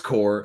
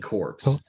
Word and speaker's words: corps: thing it is yeah I know it's core I just like saying corpse so a lot of people will be like oh well you know you said it wrong and I started